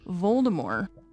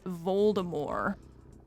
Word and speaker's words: Voldemort: the narrator kept saying Voldemort. And I was like, why are they pronouncing it like that? That's so weird. And she was like, that's actually how they said it's supposed to be pronounced. J.K. Rowling, who's a fucking weirdo, but she went back and was like, actually, even though they said Voldemort in the movies, it's supposed to be Voldemort.